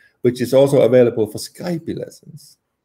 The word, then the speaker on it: Skype: Which is also available for Skype lessons. It's not Skype, it's just called Skype. You don't pronounce the E.